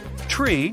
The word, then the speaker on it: tree: Tree stands for three. Five for five and niner is used instead of nine.